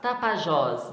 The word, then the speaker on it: Tapajós: Tapajós, última sílaba.